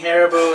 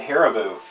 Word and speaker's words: Haribo: Anything Harbo is delicious. We had to talk about this since our world record episode. Nobody else pronounces it Haribo. They called it Harbo. But there's an I in it.